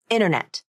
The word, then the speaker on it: internet: by a vowel and the T sound disappears from the pronunciation native speakers don't always